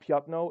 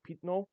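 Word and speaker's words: пятно: It's not always pronounced like Ya, by the way. There are some words, like there's a word I think pitno. It's not piatno, it's pitno, whatever.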